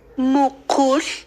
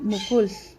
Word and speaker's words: mukul: Mukul. Mukul. Siempre la L estirada, ¿verdad? Y termina como L. Mukul.